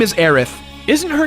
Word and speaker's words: Aerith: but that's only because that's how the Japanese pronounce the name with the TH spelling. That way, they avoid people saying her name as Erisu, which is definitely not it.